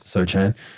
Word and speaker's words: Sochan: Sochan.